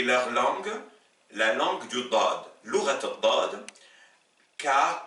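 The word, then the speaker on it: ضاد: Deuxième paire de lettres, vous avez la lettre del, le D, équivalent du D français, qui s'oppose avec la lettre dad.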